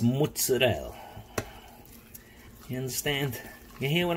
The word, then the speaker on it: mozzarella: mozzarella by the way it's not pronounced mozzarella it's mutts Adele you understand you hear